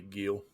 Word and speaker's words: Gil: before start it'll be Gil yeah loose heel yeah heel Gil heel but uh yeah that's what's going on man you married a this dude's name is Gil it's G but it's pronounced Hill I'm calling Gil okay